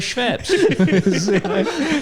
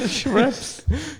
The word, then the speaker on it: Schweppes: I pronounced aspartame wrong, but I'll die on the hill of Schweppes. Schweppes. This is how it's pronounced.